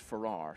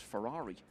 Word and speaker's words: Ferrer: research on it and you've been assured it's pronounced Ferrar, so that's what we're going to go with. Of course, it lends itself to a wonderful nickname. He could become known as Alexis Ferrari in years to come.